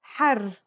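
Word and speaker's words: حَرّ: For example, here are two words that have the same letters but are pronounced differently and have different meanings because of the difference in voweling. Har means hot, while hur means free.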